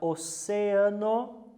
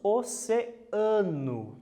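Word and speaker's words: océano: observa inclusive essa palavra oceano que é diferente a pronúncia com relação a língua portuguesa em português nós falamos oceano a tônica está no ar em espanhol oceano é um heterotonico ok e o último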